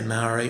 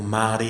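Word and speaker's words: Māori: mai I'm part Mai most people just say Mari or Mari or moldy or Mary however however you pronounce it it's fine it's m a o r i so um my mom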